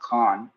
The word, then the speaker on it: Khan: By the way, the last name is pronounced Khan.